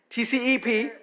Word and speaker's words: TCEP: Ángela is a professor, director of the TCEP, and is that how you guys pronounce it? TCEP. There you go.